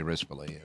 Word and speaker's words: Rispoli: Yeah, I should say Rispoli. That's his correct pronunciation.